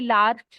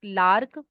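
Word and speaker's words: Larch: हर्न beam 18 impatience 19 लार्क या कई लार्च भी बोलते हैं आई प्रोनाउंस ट लार्क नेक्स्ट इ मिमिस 21 इज मस्टर्ड नेक्स्ट इ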